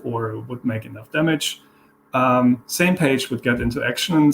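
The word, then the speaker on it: SMPAG: Mission Planning Advisory Group, and that one is pronounced same page, where IWAN is looking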